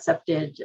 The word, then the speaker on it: septage: um um accepted said the right way to pronounce that septage strategies particularly around um access control and um